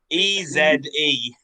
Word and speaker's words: Eze: Henry, and then his surname is spelled E-Z-E. Henry Eze. Like easy.